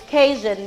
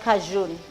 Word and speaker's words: Cajun: Cajun spice please guys it's Cajun not Cajun cajun spice I don't